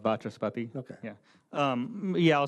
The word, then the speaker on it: Vachaspati: Mr. Vashapati, is that close? Yeah, just like it's spelled, Vachaspati.